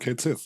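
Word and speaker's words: Cait Sith: Sith but then there's the traditional mythological pronunciation which is more like cat she I believe cat she something like that uh and it's interesting that they went with Kate Sith um it's because it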